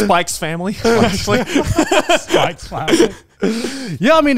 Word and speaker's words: Spy x Family: It's pronounced Spike's Family.